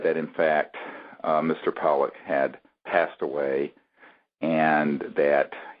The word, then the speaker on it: Pawelec: a very important witness, William John Pawelec, is how you say his last name, although it's spelled Pawelec.